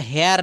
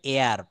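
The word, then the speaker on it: heir: এটা হেয়ার না এটা উচ্চারণ হবে এয়ার।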